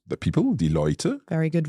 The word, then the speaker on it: Leute: So today, or die Leute. the people, die Leute.